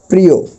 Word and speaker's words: প্রিয়: কিন্তু তার পূর্বের যে বর্ণটা সে বর্ণের সাথে রসীকার আছে রসীকার যদি রসইকার থাকে তাহলে অ এর উচ্চারণটা ও এর মত হবে অর্থাৎ উচ্চারণটা এখন আমাদের করতে হবে এরকম প্রিয় মানে ওকার আসবে যেমন